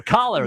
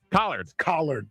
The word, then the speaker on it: collard: Well, no, it's not your collar. That's right. That's exactly what he's saying, though. Yes. So, the That's how you say it. It's a D on the end of the collar.